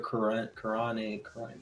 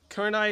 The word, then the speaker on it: Kurenai: He said, who's paying for Kurane? Did I say it right? Kurane? Kurenai Sensei? Kurenai is DLC.